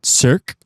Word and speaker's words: Cercle: When I was in Mexico City, I went to a concert series called Cirque. It's spelled CERCLE, and they host unique concerts in unique places around the world.